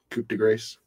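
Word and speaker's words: Coup de Grâce: the new Eminem album, Coup de Grace. And Thursday, we're back here. What the fuck did you call it? Coup de grace. That's how that word is pronounced.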